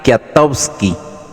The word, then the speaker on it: Kwiatkowski: de 24 años, el cabo Patrick Kwiatkowski, se pronuncia Patrick Kwiatkowski, de 20 años, y el cabo Gregory Weber.